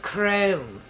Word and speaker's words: Crumb: Stan which Chloe thought was pretty fitting he didn't look like he smiled an awful lot or indeed ever actually it's pronounced chrome corrective mother no it's